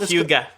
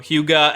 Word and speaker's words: Hygge: Huga. Yeah, it's spelled Hygge. Huga.